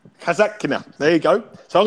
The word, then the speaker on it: Daria Kasatkina: again, Alex, I know you don't like you mispronouncing his name. Daria Kasatkina. Kasatkina, there you go.